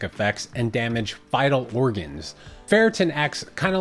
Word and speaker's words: ferritin: i thought wait um what the heck is ferritin pronounced ferret tin it is a protein